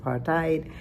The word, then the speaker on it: apartheid: Anti-apartid may you may pronounce it partite but the point of the matter was the dismantling of the apartheid government in South Africa.